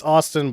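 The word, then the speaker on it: Astin: one okay Aston yeah is it Aston or Austin it's Aston Aston well it's Austin but it's spelled ason so which is it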